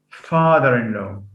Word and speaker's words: father-in-law: yeah then we have father-in-law father father-in-law was just again the primary stress falls on the first element what's the name of